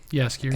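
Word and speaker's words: Jaskier: Yaskier. And Yaskier. Yeah, more of a year. Yaskier. Starts with a J. I pronounce it with a Y.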